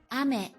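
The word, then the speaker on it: あめ: Ame.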